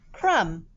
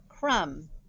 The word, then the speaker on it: crumb: is silent number two crumb a crumb falls when the boy eats a cookie crumb and we are using this spelling pattern crumb with that silent b one sound crumb number